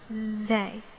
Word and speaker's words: زاي: Okay, it's the same as the English Z, so it's not different from the English one, and so it should be easy to write and easy to pronounce as well. Zay, zay, za, za.